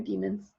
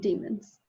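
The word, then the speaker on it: daemons: these things called demons I think they're pronounced like demons they're demons they're little tiny demons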